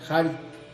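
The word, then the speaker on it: χάρις: Miren, la gracia de Dios, la palabra gracia viene de un término del griego que se escribe en español chari, que se pronuncia hari, que quiere decir precisamente gratitud.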